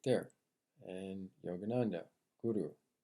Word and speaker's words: guru: The Guru. Let me say it with the accent because it's the way it's supposed to be pronounced. Because anytime somebody says it with an American, it just butchers the word.